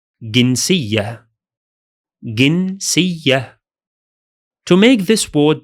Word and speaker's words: جنسية: But in spoken Arabic, we usually pronounce the letter j as symbol g. So we say جنسية.